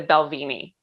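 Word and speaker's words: Balvenie: thing i i my favorite is like the belvini i think that's how i'm pronouncing it the right way no you're right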